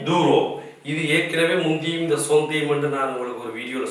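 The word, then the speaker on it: centime: 10 சென்டிம் என்று சொல்றது சில பேர் அதையும் இன்னொரு படி தாண்டி போய் 10 சென்டி என்று கூட சொல்லுவார்கள் அது பிழை அதாவது அது முறையல்லாத உச்சரிப்பு இதனுடைய சரியான உச்சரிப்பு வந்து சோ அதாவது ஊரோ சதம் இந்த ஊரோவினுடைய சதத்தை வந்து சொல்றது சொந்தீம் அப்ப இதே நீங்க போட்டிருக்கிறது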